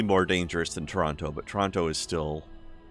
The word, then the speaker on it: Toronto: Or if we're going to pronounce it correctly, Trana. Trana? Trana. Well, then in that case, it's New York. Trana is how they say it in Trana.